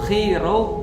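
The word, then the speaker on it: Chi Rho: ada X di belakangnya Sebenarnya bukan PX Tapi bacanya adalah XP Nah jadi X P itu kalau XP bacanya dalam bahasa Yunani X itu bacanya khi Eh P itu bacanya Ro Jadi kalau XP khiro Bacanya adalah Christ artinya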